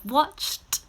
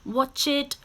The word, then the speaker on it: watched: say again you have watched washed and kissed again these are now still one syllable watched washed kissed okay one syllable we do not say watch it wash it kiss it it's a sound a short